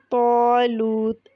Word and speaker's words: طالوت: لیے الف بھی موٹا۔ طالوت، اس میں طا مفخم ہے، اس لیے الف بھی موٹا پڑھا جائے گا۔ جیسا کہ پہلے بتایا،